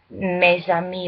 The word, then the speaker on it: mes amis: I know you don't pronounce the S, but there's also a